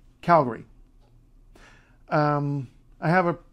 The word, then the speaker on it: Calgary: say Calgary don't say Calgary don't say Calgary G don't say Calgary don't don't it's there's no Gary sorry it's it's not it's Gary Gary left town Calgary um I have a